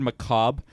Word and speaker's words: macabre: Can I say I hate the word macabre? Why? Because the R is silent.